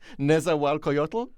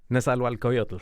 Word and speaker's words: Nezahualcoyotl: Test question, can you pronounce his name? I'm going to try. Nezahualcoyotl? Nezahualcoyotl.